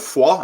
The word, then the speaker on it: Foix: No, it's like the very famous town of Foix, and that's how you pronounce it, Foix.